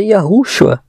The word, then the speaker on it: Yahushua: viram pessoas louvando, fazendo culto ao nosso Salvador com o nome de Yahushua. Essa pronúncia, e não é essas que eles dizem ser.